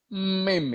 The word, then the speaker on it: meme: soal mim ya gitu mim bacanya itu mim sebetulnya yang disebut mim ya mim seperti krim gitu ya krim itu krim itu mim mim mim